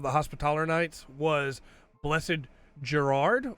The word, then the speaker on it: Gerard: But the Grandmaster, the first Grandmaster of the Hospitaller Knights was Blessed Gerard, or Jared, spelled the same way as old Jared Key.